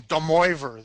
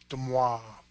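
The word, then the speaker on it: de Moivre: Although Ish and I grew up near Chicago, we might call him Demoivre there, but I believe he was French, and the correct pronunciation would be Demoivre.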